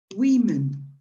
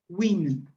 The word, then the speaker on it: women: this is true right be careful with the pronunciation of this word between the single the plur the singular you pronounce it woman okay woman but the plural is different and you pronounce women okay women actually it takes women okay right let's